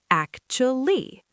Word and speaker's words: actually: So the first part is acha. Yes. Acha and the ending is lee. Put it together. Actually. Actually. Perfect. The stress is heavy on the first syllable.